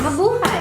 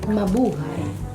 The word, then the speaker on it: Mabuhay: Mabuhay. Mabuhay is welcome, right? Yes. Yeah. Welcome. Welcome. Welcome. Mabuhay. Labuha. Ma buhay. Mabu. Hi. Hi. Yep. I say hi. Yep. It's like you're saying my boo. Hi.